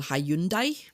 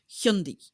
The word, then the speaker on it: Hyundai: certain car brand um which we all lovingly call Hyundai but when people go to voice search it it brings up things like high and pie or Highland guy and stuff like that because the proper pronunciation is hundi so because nobody in